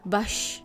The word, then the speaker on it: vache: Yo contemplaba la imagen de una vaca, vache, y las 2 letras, C, H, que se pronunciaban sh.